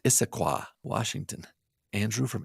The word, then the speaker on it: Issaquah: His name's Andrew from, I think it's pronounced Issaquah, Washington. Andrew from Issaquah.